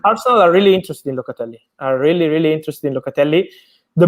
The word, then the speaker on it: Locatelli: Your fellow countryman, if I pronounce this right, Locatelli. Perfect pronunciation, congrats.